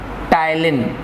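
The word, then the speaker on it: ptyalin: इसके घर का नाम है टाइलिन, मतलब common name is टाइलिन, P silent है यहाँ पर।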